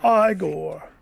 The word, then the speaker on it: Igor: And while he doesn't appear in Shel's original work, in several movies, Frankenstein is joined by a rather memorable assistant named Igor. It's pronounced Igore.